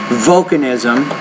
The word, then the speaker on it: volcanism: that first word volcanism put more stress on the first syllable volcanism maximal reston somber Riesling